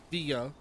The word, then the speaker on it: villa: Uh, outcast Villa in Villa in Spanish has via like the English word villa, but you sound uh uh via.